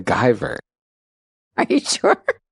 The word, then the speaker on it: Guyver: It's I think it's pronounced Giver. No, The Guyver.